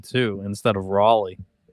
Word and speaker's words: Raleigh: Yeah, for the longest time I pronounced it rally too instead of Raleigh.